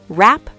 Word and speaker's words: wrap: The letter W at the beginning of certain words before R. Like right. Exactly. Right. Wrong. Wrap. Wrist. Wreck. The W is silent in all of these.